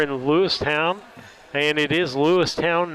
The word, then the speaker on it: Lewistown: And again, we're in Lewistown, and it is Lewistown, not Lewiston. Well, it's said ton, but it's pronounced, or it's spelled town.